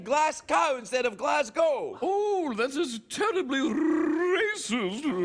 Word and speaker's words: Glasgow: It's glass cow. Give me a break. Everybody knows that.